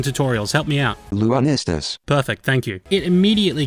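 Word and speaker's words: Lunistice: I hope I'm pronouncing this right, I'm just going to assume it's like Solstice. YouTube pronunciation tutorials, help me out. Lunistus.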